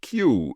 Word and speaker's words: queue: And by the way, did you notice that the word queue is just one Q followed by 4 silent letters?